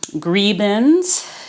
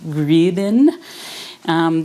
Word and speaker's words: gribenes: crispy bits called um gribens if you're german i think we pronounce it grievin it might be another